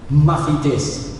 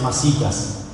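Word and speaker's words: μαθητής: La palabra discípulo en el griego es mafites. ¿Amén? No es masitas, es mafites. Y algunos lo leen, porque se escribe así con TH, algunos lo leen como matetes.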